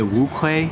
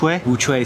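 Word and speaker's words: Wuque: speaking of pronouncing things i was saying a wu clay uchu bouquet he would looked it up it's actually which way studio sent this over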